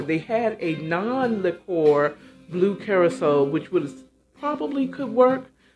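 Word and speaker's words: Curaçao: be using blue carousel that's spelled c u r a c with a funny accent at the bottom of the c carousel to give that s sound so a o liquor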